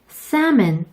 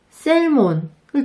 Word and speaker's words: salmon: 이 중에서 salmon 그리고 walk을 많은 분들이 실수하세요. 해외에서 연어를 먹고 싶어 셀몬을 주문하면 상대방이 알아듣지 못한답니다. salmon 이렇게 발음하셔야 해요.